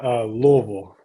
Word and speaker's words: Louisville: What is the correct pronunciation of Louisville for people? I know it's a hot topic. Yeah, Louisville.